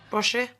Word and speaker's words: borscht: Borscht? Borscht, that's quite fancy. Borscht? It's pronounced borscht, actually.